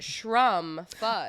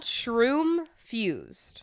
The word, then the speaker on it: Shroomfused: So, it's called shroomfused. Okay. The customer came in and pronounced it shr fuzzed. I And I told him it was pronounced shroomfused because it's a mushroom infused product.